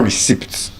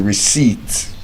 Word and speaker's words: receipt: Now the letter P or the sound P rather is silent in these words. Words like receipt. It's not receipt. When you buy something you don't say you want to collect receipt is receipt. Receipt.